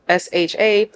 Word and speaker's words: Shrif: My first name is, last name Shrif, Sharif, not pronounced Sheriff. Do not get on the phone with me and say Miss Sheriff. It's Sharif, to be real clear, put respect on it.